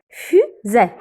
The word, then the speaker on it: fusée: Et pourquoi j'ai dit E? Car c'est un accent aigu. Alors, j'ai fermé la bouche. J'ai dit fusée.